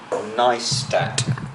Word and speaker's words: Neistat: Casey Niestat. Is that how you pronounce it? Niestat? Niestat. Niestat. Niestat. Niestat. Niestat. No, there's no sh. There's no sh in there. It's st, not sh.